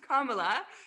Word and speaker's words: Kamala: my fi little name is pronounced kamala like the punctuation mark you have to get